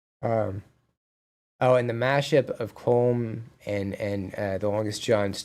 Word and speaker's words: Colm: Colm is said like Colm.